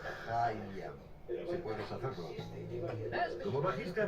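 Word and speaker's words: Haim: Soy Hayam Saban y se pronuncia Hayam.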